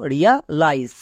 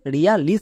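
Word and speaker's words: realise: এ থাকে যেমন দেখো রিয়া লাইস রিয়া লাইস এখানে আমরা একে রিয়া লিস কেন বললাম না কারণ এখানে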